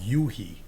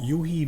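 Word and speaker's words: u-he: There's a company called Yuhi. At least that's how I pronounce it. It's a U, a hyphen, and then a H E. He. Like a capital U and then a little he. I call it Yuhi.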